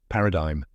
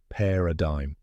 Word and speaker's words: paradigm: nothing like it looks Paradigm the correct pronunciation is PE a dime Yes you heard that right the g is silent let's break it down